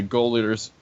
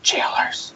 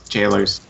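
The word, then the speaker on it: gaolers: Arya learned some sweet gossip when how the goers uh goers uh jailers it's pronounced jail I'll just say it's goers oh it's jailers the goers wife see I wasn't the only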